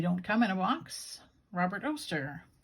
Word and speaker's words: Robert Oster: come in a box robert oster rhymes with toaster this is cherry blossom